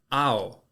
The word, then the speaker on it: ao: It's not O-W, it's A-O. Just remember that. It's just kind of pronounced that way.